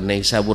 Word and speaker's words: Nisabur: Saya menerima langsung dari orang yang sana, bahkan bukan Nisabur bacanya tapi Nisabur. Ya, Nisabur, langsung orang sana.